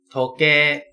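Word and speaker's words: 時計: ตาม นะ ครับ นาฬิกา โทเก โทเก คือ นาฬิกา เนี่ย เขา เขียน เป็น โทเก อิ ก็ จริง แต่ การ ออก เสียง จะ เป็น โทเก นะ ครับ ถ้วย ที่ แบบ มี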